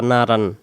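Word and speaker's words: نَارًا: এটা আমরা অনেকে বলি নারান, নারান হবে না, নারন, নারন। এবং দুই জবরের পরে জাল থাকার কারণে এটা রং বলতে হবে। আর এখানে আলিফ অক্ষরটা উচ্চারিত হবে না, এটা অর্থের জন্য লাগবে, কিন্তু এখানে উচ্চারণ হবে না।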